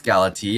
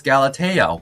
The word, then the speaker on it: Galatea: No, I did not say it's Galati. I said it's Galatea.